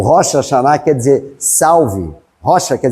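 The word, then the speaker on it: Hoshana: A gente não fala Rosana, mas não é Rosana, é Rocha Chaná. E aí foi se traduzindo, se traduzindo, virou Rosana. O Rocha Chaná quer dizer salve.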